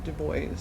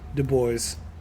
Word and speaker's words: Du Bois: because I've read a lot about Dubois or Du Bois. How do you say it? Yeah. Du Bois.